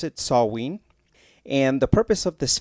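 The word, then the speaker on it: Samhain: Europe they celebrated a festival that they called saw ween I think that's how you pronounce it saw ween and the purpose of this festival was to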